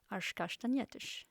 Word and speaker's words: castanhetas: She also changed her pronunciation according to Portuguese rules, using the sh sound that is so characteristic for Portuguese. As castanhetas.